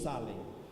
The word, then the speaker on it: shalem: Ele se pronuncia Doulos Salem. Digam todos comigo, Doulos Salem.